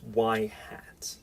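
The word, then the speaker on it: ŷ: going to call this y hat. So this symbol here, the caret symbol, when above some variable, is pronounced y hat.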